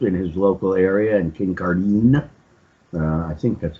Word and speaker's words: Kincardine: Okay, it's Kincardine, actually. Scottish name. Not pronounced the way it's spelled, but then what is?